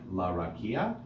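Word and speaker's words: לרקיע: So if there are upbeat notes, like la rakia, we use the upbeat sound of the trope name, like Etnachta. This is going to be la rakia, kia, right? Accent on the ki, not the okay?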